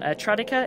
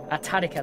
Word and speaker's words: Tadika: I'm not sure of the pronunciation on this one. Tradika, is it? Tadika. Tadika, there's a typo there on my end, sorry.